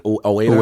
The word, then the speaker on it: Ueda: For me to Ueda. Ueda. That's how you pronounce it. Ueda, Yeah.